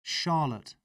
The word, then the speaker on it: Charlotte: You said chic. It's more like Shah. Charlotte.